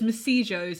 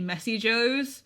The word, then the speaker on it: Messy Joe's: Yeah, he pronounces it as Messijo's, and it's actually Messy Joe's.